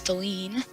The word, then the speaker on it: Dahlin: I made the mistake again of calling him Dallin. It's Dahlin.